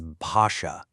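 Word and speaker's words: भाषा: Our first noun is basha, which means language. Notice that B sound at the beginning. It's an aspirated B, which just means you let a little puff of air out when you say it.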